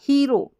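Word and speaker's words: hero: फिर देखिए एच ई, वैसे भी एच ई को ही पढ़ते हैं, ही, या और ई का उच्चारण ई, ही, और इसको तो ओ पढ़ेंगे ना, ओ को तो आर को र, तो रो बन गया, हीरो।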